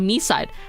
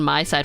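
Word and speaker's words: MiSide: it's not scary not scary in my opinion me side rather than my side for me it's me side see so I'm going to mispronounce it and someone in the comments going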